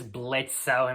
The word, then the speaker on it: Blitzo: at number five is blitzo himself the O is silent now